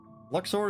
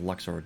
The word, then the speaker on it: Luxord: Luxor, is that you? Or Lushard, however the fuck it's actually supposed to be pronounced. Whatever its stupid pronunciation is. I'm going with Luxord, because it should be Luxord.